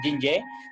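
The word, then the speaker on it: 津液: En medicina tradicional china se le llaman Jinye. Recuerden que la J y la I se pronuncia Jin, entonces se llaman Jinye.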